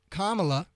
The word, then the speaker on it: Kamala: barbara lee and what kamala rhymes with comma thanks lisa kamala harris she's gonna help